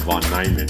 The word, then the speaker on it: von Neumann: No, he's pronouncing the name correctly, so I should pronounce it von Neumann.